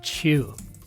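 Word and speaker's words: Choo: So I uh fashions Jimmy whose surname aptly rhymes with shoe. We're talking about a chew Oscar winner inducted into the Rock and Roll Hall of Fame.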